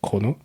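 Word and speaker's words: Kurono: plus la marque chrono alors ça s'écrit couronnot voilà mais en fait prononcé à la japonais c'est chrono donc à la base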